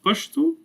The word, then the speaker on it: Pashto: as sheen right so if you said the word pashto as i have written here in its native pastel the same letter again same meaning same language same letter it will be pronounced pashto by the western pashtun language and by the easter neither is right or wrong neither changes meaning this is methods of